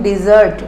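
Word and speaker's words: dessert: this is डेजर्ट और this is डिजर्ट डिजर्ट means sweet dish and डेजर्ट means lack of water जहां पर पानी कम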